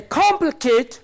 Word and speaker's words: complicate: Okay, then words which are ending in ate. It is third syllable from the end that is to be stressed. Say complicate, complicate, complicate, complicate.